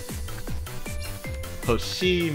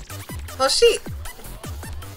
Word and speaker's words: Hoshii: Hoshi! I got it! Oh! I got it! Very funny, but your name is spelled with a long I vowel.